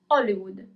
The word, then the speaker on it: Hollywood: pronunciation is different as we don't read the H.